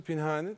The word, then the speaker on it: Pinhani: Hani kısa Pinhani de olabiliyor, Pinhani de olabiliyor. Genelde yani, Pinhani diyorlar ama Pinhani. Aslında doğrusu Pinhani ama çok da önemli artık.